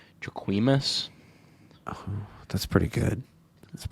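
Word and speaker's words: Jacquemus: these so I don't even know how to pronounce this guy's name jaquimus that's pretty good that's a pretty good try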